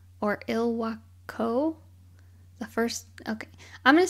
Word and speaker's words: Ilwaco: okay I'm gonna say Ilwaco because it's kind of I don't think it's like Waco I think it's maybe it is Waco the okay it's i l w a c o but then in the